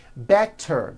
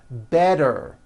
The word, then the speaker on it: better: make things easy so if a letter T Falls between two vowel sounds which are voiced so if it falls